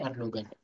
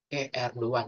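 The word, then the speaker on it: Erdoğan: Ini contoh yang pertama, Erdogan. Jadi cara bacanya Erdogan. Cara bacanya itu Erdogan, Erdogan, Erdogan. Seperti itu ya, bukan Erdogan. Kalau Erdogan tuh cara membaca orang Indonesia.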